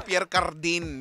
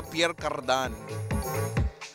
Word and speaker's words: Pierre Cardin: Akala ko Pierre Cardin. Yung pala Pierre Cardan. Pierre Cardan.